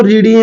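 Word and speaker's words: read: होती है उसको बोलते लिखते तो रीडी आरडी लेकिन बोलते उसको क्या है रेड बोलते हैं क्या बोलते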